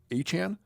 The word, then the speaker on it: Etienne: They did sign Travis Etienne, which they changed the pronunciation of his name. It's going to take us a while. His name is actually Travis Achan. Achan.